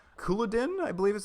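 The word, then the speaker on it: Culloden: It's called Couloudin, I believe is how it's pronounced.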